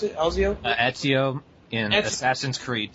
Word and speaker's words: Ezio: No, he does the voice of Elzio, I think you pronounce it, Elzio? Ezio in Assassin's Creed 2 and Chris Redfield in Resident Evil 5.